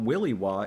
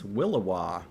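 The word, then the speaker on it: williwaw: look at the pronunciation it's not willya it's willowa willowa like like willowwisp that's amazing um but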